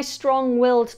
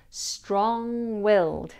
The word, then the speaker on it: strong-willed: My strong-willed toddler is a handful now, but I am confident that he will achieve whatever he wants in life. Here, the NG can sometimes be mispronounced as a N sound, a single N, with